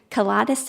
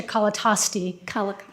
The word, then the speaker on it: Colatosti: is a and i may pronounce this wrong colitis it no okay hi my name is colatosti and i live in